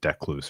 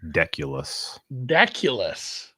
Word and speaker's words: Deculus: I think I mispronounced the Decluse earlier. It's Austin Deculus.